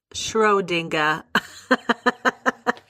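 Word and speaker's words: Schrödinger: Okay, some video that I found on YouTube says that you pronounce it shrodinga. I am just so stupid right now, but because I'm American, Schroinger is probably the right way to pronounce it.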